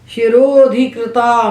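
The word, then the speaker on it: शिरोऽधिकृता: शिरो के बाद जो अवग्रह है इसको नहीं बोलना, ये बोला नहीं जाता, ये साइलेंट होता है। जैसे अंग्रेजी में टॉक वॉक में एल साइलेंट होता है, यहाँ अवग्रह पूर्व रूप हो गया है, वो है ही नहीं वहाँ पर, पूर्व का रूप बन चुका है, उसको नहीं बोलना।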